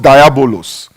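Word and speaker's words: διάβολος: Now that word or that name, devil, is actually comes from a Greek word that is pronounced diabolos.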